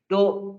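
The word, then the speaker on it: ∂: do z/ do x Do ini bacanya do ya bukan D Do ini dua variabel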